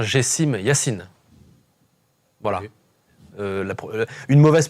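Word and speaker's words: Gessime Yassine: Et les amis, on vous met au fait sur la prononciation correcte. C'est bien Gessim Yassine.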